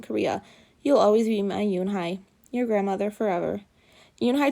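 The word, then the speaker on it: Yoon-Hee: joey she nodded slowly yes it's pronounced yoon hai and it means grace mr kim added yoon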